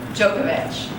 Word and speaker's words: Djokovic: After Wimbledon, the winner is this gentleman, and I'm probably going to mispronounce his name, Novak Djokovic.